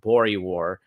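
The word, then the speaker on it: Boer War: and this was when he went to this uh war in South Africa it was the second version of this I think it's pronounced bori War um and he this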